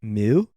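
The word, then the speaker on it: MØ: i was looking online i believe you pronounce it like mu oh and yeah sort of like mew muse i don't know produced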